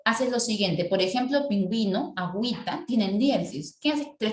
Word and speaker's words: pingüino: solito en así quedarían pingüino profe y ahí porque nosotros colocó la gente porque vino de diferencia en pingüinos cuando pronunció no digo ping ino como si estuviese ping ino o dices pingüino disculpa la oración que